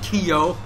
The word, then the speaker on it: Kyo: name is k kusanagi there's only one syllable it's not Kio not Kio Frio not mucho Frio no it's Kio please correct me if I